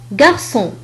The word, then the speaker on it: garçon: أيضا عندما تضاف لها علامة CCD فهي تنطق كحرف السين. مثال على ذلك garçon.